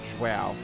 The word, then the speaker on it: João: they pronounce it Gonçalo, or like João, which they just say like Joel or something like that.